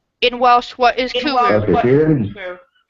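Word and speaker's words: cwrw: Kooroo. That's the pronunciation.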